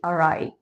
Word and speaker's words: awry: first and then I'll give you the correct pronunciation. Number 1, array. Array. የሆነ ነገር እንደጠበቃችሁት ሳይሄድ ሲቀር you can say array.